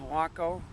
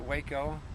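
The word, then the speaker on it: Wako: The correct pronunciation on the name is Waco, not Waco.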